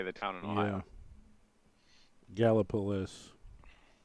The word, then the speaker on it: Gallipolis: Galapagos?